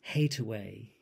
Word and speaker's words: Hathaway: the couplet the word the words hate away i appear which is an alternative pronunciation of hathaway the maiden name of